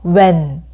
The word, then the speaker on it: when: 어떻게라는 거기에가 많 들어가는데 h 소리가 나지 않습니다 그래서 뭐 예전에는 펜이라고도 발음 했다고 하는데 요즘은 h 소리를 내지 않고 when 어디에 where 무엇 what 어느 것 Which 왜 Why 요렇게 발음을 하면 됩니다 흰색 하얀색 와 고래